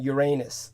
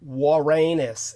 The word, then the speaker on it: Uranus: of Neptune and Uranus or warus is the correct pronunciation please everybody stop calling it Uranus because it sounds obscene uh the warus is the correct pronunciation from the ancient helenic Greek so wus wus yes yes U OU or uo yeah ouu uh warus like our think of our no don't say our